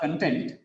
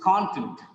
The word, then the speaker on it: content: Because of the stress on the first syllable, the next syllable becomes weak. Content.